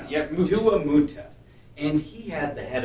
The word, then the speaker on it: Duamutef: I always forget how to pronounce it. Yep, Duamutef.